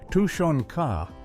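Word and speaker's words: тушёнка: While bread was the fuel, Tanka was the prize. The name which is pronounced Tonka just means stewed meat.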